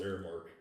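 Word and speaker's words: Aramark: Are WearGuard shirts from Armark, which is a company based out of St. Louis. Yeah, Airmark. It's actually pronounced Airmark.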